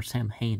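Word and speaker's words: Samhain: or harvest home and sowan are also um or Sam Hain as some people are going to promote pronounce it but I guess at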